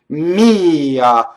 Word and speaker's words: mia: Mia. So the pronouns, the possessive pronouns usually have 2 syllables. They're considered a semivowel, but they sound like 2 syllables, with the first vowel stressed.